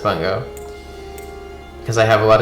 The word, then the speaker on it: Bungo: Yeah, well, it's got to be pronounced Bungo.